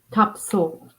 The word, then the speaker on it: Topsail: is kind of cool to make actually it's pronounced top top soul but yeah and they will definitely let me